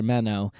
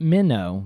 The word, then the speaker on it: Menno: And but either way, Menno, Brother Menno, and not Minnow, like the little fish, Menno, Menno.